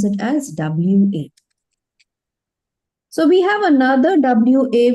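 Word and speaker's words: は: topic, in that case we put WA sound, or in greeting konnichiwa and konbanwa. So after topic, after these two, no, in these two greetings, we will be this WA pronunciation. Otherwise, if you see this particular hiragana in words, some vocabularies and all, you will pronounce it as ha only.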